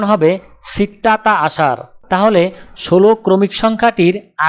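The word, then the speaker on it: ستة: আরবি ক্রমিক সংখ্যা 6 দেখতে এরকম, উচ্চারণ হবে সিত্তা।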